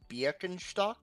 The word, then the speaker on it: Birkenstock: Are you are you are we are you heir to the Birkenstock fortune? Technically, according to German pronunciation, uh, the sandal shoe company is pronounced Bakentock because it's the IK.